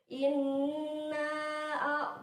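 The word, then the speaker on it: إنّا: kita baca ayat pertama Inna poinner Kautsar Inna ini adalah contoh ghunnah bacanya berdengung panjangnya dua hakekat ya Sekarang kita ke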